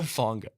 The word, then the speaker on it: Hufanga: did you say Lufunga? Hufanga. It's all about What'd your you say? perspective. What'd you say? Lufunga. It's Hufanga. Yeah, but you pronounce the H with an L if you're from the island.